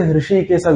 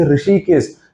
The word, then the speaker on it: Hrishikesa: Now many of us can't say Hrishikesa, we say Rishikesh. because a Hru is a Mahaprana, we can't pronounce it.